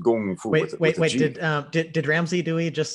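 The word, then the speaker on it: 功夫: use English words like Kung Fu, for example, which is spelled K-U-N-G-F-U, that's Wade Giles. The actual word in Chinese is pronounced Gong Fu.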